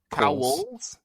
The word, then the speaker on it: Cowles: Or is that how we're supposed to say? Cowles? Oh, we all had different pronunciations. Like coals in a fire?